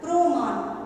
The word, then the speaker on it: প্রমাণ: কিন্তু আমরা যখন এটা উচ্চারণ করি কিভাবে করি, সেই অ ধ্বনিটা ও ধ্বনিতে পরিণত হয়, প্রমাণ। এইভাবে আমরা উচ্চারণটা করি, প্রমাণ, তাই তো?